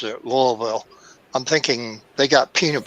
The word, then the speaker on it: Louisville: Louisville oh of course he kind of runs it together a little bit faster than I do but I'm a laid-back